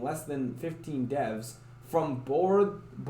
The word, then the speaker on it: Bordeaux: It was made by a tiny dev team, less than 15 devs, from Bordeaux. I know the end of that's, I think, pronounced dough. Bordeaux in France.